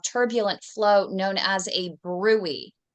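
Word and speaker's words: bruit: an indication of turbulent flow known as a brewery it's spelled brute bu BR r UI T brute but it's actually pronounced brwy and then toes T is for toes that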